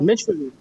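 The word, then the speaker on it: Meschonnic: Est-ce qu'on le prononce bien ? Meshkonik.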